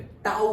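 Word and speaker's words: τ: Torque को ऐसे टी से डिनोट नहीं करते, टाउ से करते हैं। उसको प्रोनाउंस क्या करते हैं?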